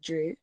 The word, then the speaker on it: Dru: is Drusilla and so I basically just cut my name in half and call it drew and some people like oh my god that's a boy's name Oh Dru Hill drew Barrymore it's true it's spelled differently D are you yeah and what inspired